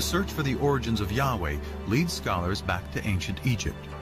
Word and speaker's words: Yahweh: these four letters which in English would be YH wh which we think were probably pronounced something like Yahweh but Yahweh only appears